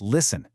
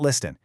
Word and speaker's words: listen: When you use the word listen, you've got to remember to keep that T completely silent. It's listen, not listen.